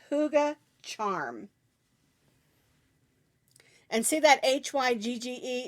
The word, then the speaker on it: hygge: this is called hygge charm and see that hy gge it's pronounced hygge I believe it's a Swedish word